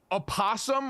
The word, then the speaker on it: opossum: You were sleeping mere feet from where a sleeping opossum. I guess we have to pronounce the O.